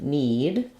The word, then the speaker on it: knead: in the leg and need all three of these same pronunciation just different spelling so the letter K is silent in these two words again you see we